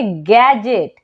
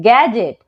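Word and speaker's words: gadget: को नहीं पढ़ते हैं नेक्स्ट वर्ड है गैजेट यहां पर भी अगर आप ध्यान दें तो डी जो है वो जी के पहले आया है है तो डी हो जाएगा साइलेंट तो पढ़ेंगे गैजेट क्या पढ़ेंगे गैजेट ठीक है चलिए अब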